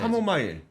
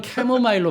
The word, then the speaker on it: 캐모마일: 카모마일. 네. 카모마일 괜찮대요. 예, 그건 캐모마일로 발음을 좀 그건 해주시면 캐모마일. 좋겠습니다.